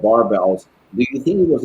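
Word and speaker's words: Barebells: to be i always i always said barbells until i saw that video and it was in english and i was like the they said bear bells it was like they pronounced it wrong i was like no i think it's meant to be sort of like bare as in like skinny like as a low calorie type thing so like a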